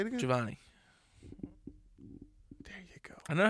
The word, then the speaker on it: Giovanni: you guys want to get a hold of Giovani GNA your uh say my name properly Corner no the first name Corner Giovani Giovani nope you've known me for how long you gavan no javanni no what say say it again